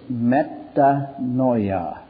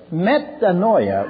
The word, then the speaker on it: metanoia: The Greek word that's translated repentance is metanoia. I'll spell it in English.